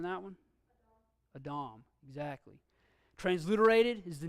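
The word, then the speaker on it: אָדָם: do this one before but I won't try pronouncing that one a Dom exactly transliterated is the name Adam the Hebrew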